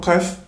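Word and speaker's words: قاف: C'est de répéter à répétition, iq, uq, aq, aq, iq, uq. Donc en répétant de cette manière-là, ça va nous permettre de nous entraîner à prononcer la lettre Qaf, Inch'Allah.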